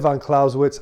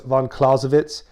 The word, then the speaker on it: Clausewitz: of caravan clausewitz yeah i said von clausewitz i know it's von klausewitz but i'm an american